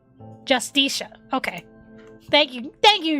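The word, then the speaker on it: Justitia: Uh pronunciation. Help me out here, Google. Justicia. Justicia.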